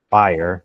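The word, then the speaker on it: FHIR: A newer standard that they have is FIRE, which is, they spell it wrong, but there it is. I was hoping to get. Oh, it's FIRE.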